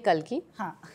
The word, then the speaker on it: Kalki: Yeah, so Kalki, aaj ki ne Kalki.